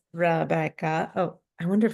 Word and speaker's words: Rebecca: know how to say my name uh it's Rebeca oh I wonder if it's backwards for you